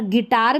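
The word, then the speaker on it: guitar: Guide में देखिए यू का उच्चारण नहीं हो रहा, और गिटार में भी आई का हो रहा है लेकिन यू का नहीं हो रहा।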